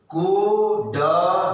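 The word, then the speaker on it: could: यहां भी क्या होगा, COU से क्या होता है, कू, पहले भी बोला था, कू, L चुप, साइलेंट, ड, N अपोस्ट्रोफी T, नट, नट, ये कुछ छिपा हुआ है ना। कुड नट, कुड नॉट।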